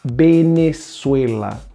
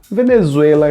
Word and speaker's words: Venezuela: Olha a pronúncia em espanhol. Venezuela. Venezuela em português.